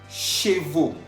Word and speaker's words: chevaux: Chevaux. Chevaux. Estamos viendo que chevaux está escrito al final con la A-U-X. A-U-X, que se pronuncia O.